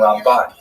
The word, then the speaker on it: Ramban: Rambam is pronounced with the emphasis on the first syllable, Rambam, and Ramban is pronounced with the emphasis on the second syllable, Rambam and Ramban.